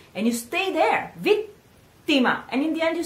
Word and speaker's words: vittima: Pronounce it the Italian way. So it's come vittima. And again, A ending the word.